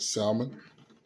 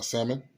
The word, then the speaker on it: salmon: some Alfredo you got salmon uh salmon which is pretty cool the L is silent you got the Alfredo